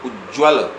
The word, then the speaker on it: उज्ज्वल: प्रयुक्त हो जाता है, तो उसका उच्चारण होता है उज्ज्वल, यानी दो बार अर्ध ज का प्रयोग होगा और उसके बाद वल।